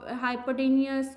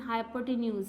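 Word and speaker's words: hypotenuse: बहुत सारे इसकी प्रोनाउंसिएशन हाइपोटेन्यूज, हाइपोटेनियस कुछ लोग बोल देते हैं, लेकिन इसकी करेक्ट जो है प्रोनाउंसिएशन हाइपोटेन्यूज है।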